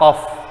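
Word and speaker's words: ق: Misalkan ini ko, ini dibaca kof.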